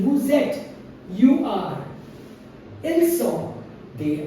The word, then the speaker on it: vous êtes: Vous êtes, look at the pronunciation, the S and the E circumflex, they absolutely combine in the pronunciation. Vous êtes, you are.